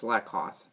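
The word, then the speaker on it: Slakoth: The Slatkoth. Koth? I think it's Slatkoth. I'm more than positive.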